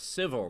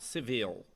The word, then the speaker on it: Civils: You're very close, but it's civil, not civil. I said civils, like Civil War. But it's civil. The Singular. Yeah, the emphasis on the first syllable, not the second.